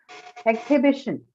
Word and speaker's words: exhibition: Noun, so first syllable. Exhibition, B.